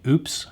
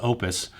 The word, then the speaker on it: OUPES: they the guys at opus by the way if you probably heard this pronounced multiple ways like oops or pay the guys at the company told me it's actually pronounced opus they also sent me